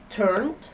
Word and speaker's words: turned: For those verbs with the voiced ending, the ed is pronounced d. So we say turned, everybody, turned, stayed, showed.